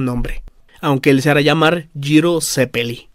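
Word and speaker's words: Gyro Zeppeli: Aunque el Sara Llamar jiro zeppeli Bueno estoy diciendo la pronunciación italiana a ver qué tal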